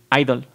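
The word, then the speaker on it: (G)I-DLE: como yo ya idol que se pronuncia sólo como idol la letra allí entre paréntesis está en silencio pero muchos fanáticos internacionales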